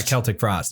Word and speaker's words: Celtic Frost: Yeah, Celtic Frost. Yeah. Hey, you said it right. Yeah, fuck you. You can say it correctly, bastard.